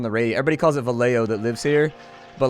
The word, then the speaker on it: Vallejo: they're always on the radio everybody calls it valeo that lives here but like everybody on the radio is like in vallejo they always like pronounce it hella weird they'll